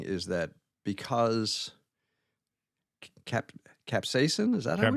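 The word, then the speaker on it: capsaicin: So, one of the things they're saying is that because cap capsain, is that caps?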